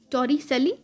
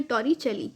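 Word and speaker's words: Torricelli: Spelling होती है TORICELLI, टॉरिसेली या फिर टॉरिचेली, आप दोनों में से कोई भी नाम बोल सकते हैं।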